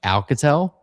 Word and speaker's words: Alcatel: I'm pretty sure you just pronounce it like Alcatel.